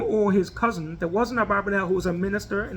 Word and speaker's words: Abarbanel: So Abarbanel was a major commentary in the Torah. Some people pronounce it Abravnel.